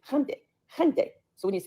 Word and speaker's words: Hyundai: It's Hyundai. Hyundai, you know, if we can and we can at least get say it right, you know, say it with some respect.